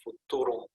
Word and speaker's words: futurum: to science it's called i will use the latin pronunciation futurum and finally there is